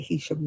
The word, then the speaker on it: Heysham: Heysham it's spelled, but they call it Heysham round here.